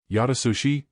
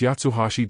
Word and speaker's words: Yatsuhashi: Yatsushi Dice. It's Yatsuhashi Dai the big one corrected.